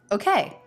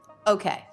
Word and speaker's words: okay: with first syllable stress that word can have either first or second syllable stress you can say okay or okay and here she's doing that first little stress okay okay now that